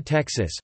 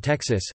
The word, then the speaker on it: Texas: The English pronunciation with per kilo second is unetymological, and based in the value of the letter X in historical Spanish orthography.